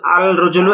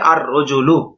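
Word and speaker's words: الرجل: আলিফ লাম যোগে আল আল রজুলু এটা ভুল কি হবে আর রজুলু লামটা উচ্চারণ হবে না ব্যাস এই বিষয়টা বোঝানো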